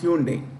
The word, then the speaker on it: Hyundai: Hyundai, it's pronounced Hyundai.